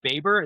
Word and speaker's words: Baber: Oh, so I'm gonna It's pronounced Babber. It's like B A like ba.